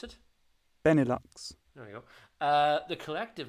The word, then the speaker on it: Benelux: Benelux is, how do you pronounce it? Benelux.